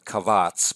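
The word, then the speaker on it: קבץ: b and then ts kabats like that pronounce it kavats but i guess i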